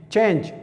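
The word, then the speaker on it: change: دویم مثال لکه ای چې اوس نه کې تلفظ کیږي ای سایلنټ ته، لکه چینج بدلول، د یو شي بدلول چینج دې ته ویل کیږي.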